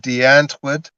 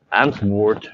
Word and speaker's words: Antwoord: But I And notice how she, you pronounce Antwoord. You use the WRORD and Wort, but in South Africa it's Wort. You use the V, the Wort. When you say W, it's usually a V, Wort.